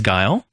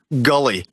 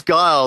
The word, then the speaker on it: Guile: People used to pronounce Guile as Gully. No, I'm not joking. People were like, "Oh man, I'm using Gully tonight." I'm like, "I think it's Guile."